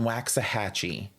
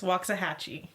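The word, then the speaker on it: Waxahachie: cities MH including Cedar Hill Grand prair and waxah hatchee and I know that that city is not pronounced waxah hatchee waxah hatchee no Cameron really what is the pronunciation it's waah hatchee okay waah hatchee good now all of these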